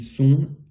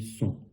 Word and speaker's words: sont: Par contre, il reste ON qui va faire un son ON. Ils sont.